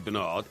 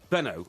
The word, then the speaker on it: Benaud: I have to say, although I never met Richie Bernard... Richie Benner. Benno. Yeah. Richie Bernard, it is, actually. Is it? Why does everyone call him Richie Benner, then?